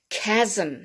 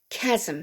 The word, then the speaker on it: chasm: the treatment for cancer chasm not chasm chasm so we don't pronounce the h for any of these words it's as if the